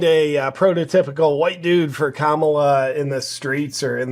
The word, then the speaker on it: Kamala: He was saying that 99% of this area is voting for Camilla. Is that how you say it? Kamala. Kamala.